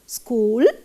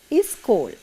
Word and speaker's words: school: and small now children we Sri Lankans sometimes can't pronounce this s sound at the beginning properly you know now some children and even the adults they can't pronounce this school properly they tend to say is school that is a mistake children if you have